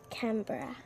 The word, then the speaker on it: Canberra: Canberra.